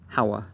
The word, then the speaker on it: Hawa: story of adam and eve leaves off it's pronounced hawa there thus the two can not well be